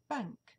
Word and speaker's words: bank: voyelle dans banque que bank. Donc il faut faire attention et toujours prononcer le A de bank en son court avec un léger sourire aux lèvres.